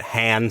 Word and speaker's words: Han: Williams just he has a Relentless commitment to pronouncing it hand solo and he he never stops and like you know especially in a new hope they go back and forth on like it's very clearly not Han for a while but